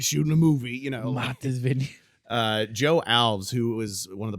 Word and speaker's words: Joe Alves: Joe Alves. That's how you pronounce his name.